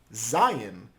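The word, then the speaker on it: ז: are good up next we have Zion which sounds like Z hinder please write Zion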